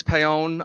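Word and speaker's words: Paone: People say you say Ponyi. I said no, it's Pon. You pay and then you own. That's how you remember it.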